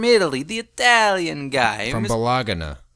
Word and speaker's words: Bologna: From Bologna. It's pronounced Bologna. Bologna.